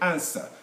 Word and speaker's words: answer: say answer my question answer w is silent it's not green witch